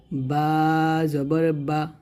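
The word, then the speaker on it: ب: বা এটা হচ্ছে ওয়াও বা যখন উচ্চারণ করবেন দুইটা ঠোঁট মিল করে উচ্চারণ করবেন আর ওয়াও টা দুই ঠোঁট গোল করে উচ্চারণ করবেন তাহলে এটা হবে বা জবর বা আর এটা হবে ওয়াও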